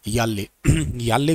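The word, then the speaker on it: Yala: याले glacier है, उसको याला भी बोलते हैं, कई जगह पे याला भी लिखा मिलता है, ये याला या याले प्रोनाउंसिएशन अलग अलग है।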